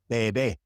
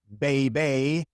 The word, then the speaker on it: bebe: It is always E, such as in bebe, bebe. It is not bebe or bibe or anything like that. It is bebe.